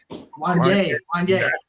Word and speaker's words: Wanya: to the Brandy and Wanya Morris. Did I pronounce it right, or what is it? Wanya. Oh, see, you just know it sounds too much like Kanye.